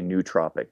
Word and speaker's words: nootropic: a Greek scholar here, they would say it's pronounced something like nuos, with almost like two syllables there. But most people are going to say nootropic, just, you know, sort of simple American pronunciation.